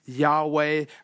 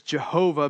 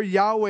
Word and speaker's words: Yahweh: lost in the writing they have a good idea that it's Yahweh sometimes it's pronounced over the years Jehovah based on a misunderstood what is likely a misunderstanding and this goes back